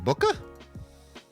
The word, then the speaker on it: bwca: Martin, let me tell you, I would love it's pronounced Booka.